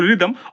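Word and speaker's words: rhythm: মিউজিকের সাথে কিন্তু রিদম অবশ্যই সম্পর্কিত, তাই এটা কিন্তু আমরা আর এইচ ওয়াই টি এইচ এম না ধরে এটাকে আমরা উচ্চারণ করবো, কি উচ্চারণ করবো, রিদম, ওকে।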